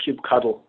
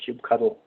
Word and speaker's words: kubectl: And by the way, that last one, that's pronounced kubectl. Very cute pronunciation, kubectl.